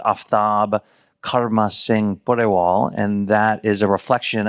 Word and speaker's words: Aftab Karma Singh Pureval: The correct pronunciation of my name is Aftab Karma Singh Pureval, and that is a reflection of the various ethnicities that I embody all at the same time.